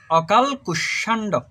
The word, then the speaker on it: অকাল কুষ্মাণ্ড: অকাল কুষ্মাণ্ড, এটা কিন্তু শরৎচন্দ্রের বিলাসী গল্পে আছে এই শব্দটা। এটার উচ্চারণ কি? উচ্চারণ হবে অকাল কুষ্মাণ্ড।